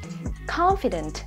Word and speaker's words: confident: Đáp án C, confident, đáp án này có nghĩa là tự tin, cũng rơi vào âm tiết thứ nhất, trọng âm á.